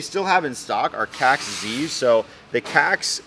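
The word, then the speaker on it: Kaxe: have in stock are cax Z's so the cax I believe it's actually pronounced like caxa if you technically are Swedish but the cax is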